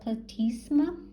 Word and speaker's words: platysma: and then we have 81 which is the platysma and that's how you pronounce it just down here 81.